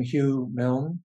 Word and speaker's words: Hugh Milne: and and we'll take it from there I pronounce my name Hugh Milne I trained as nasty path in London England